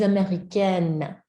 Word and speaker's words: américaine: Je suis américaine. Je suis américaine. You're the n at the end.